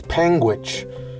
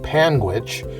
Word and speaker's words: Panguitch: over a 100 times in my travels is pangit which is the county seat of Garfield County